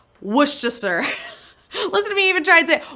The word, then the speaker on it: Worcestershire: pronounce this is sad it's pronounced it's spelled wercestershire but it's not spo it's not pronounced that way it's worcestershire sauce we gotta move on